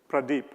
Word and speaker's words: Pradeep: how many of you can say my name Pradeep Pradeep you know in the days it was